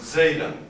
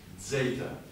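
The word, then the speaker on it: ζ: the line like this zeta and that of course is the it's a dz sound a dz sound so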